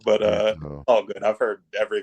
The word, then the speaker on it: Mirto: How do you pronounce it? Mirto. It's Mirto, but Mirto.